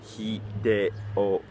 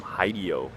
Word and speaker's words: Hideo: I've been listening to people talk about Hideo Kojima and call him Hideo. Now, I don't ever expect everybody to have perfect Japanese pronunciation, but when you've lived here for 9 years, when you hear him called Hideo, you're like, oh, cringe.